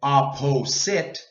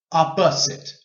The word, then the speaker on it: opposite: Now this O here is a long O, but we don't say opposite. It's too long. We say opposite, opposite.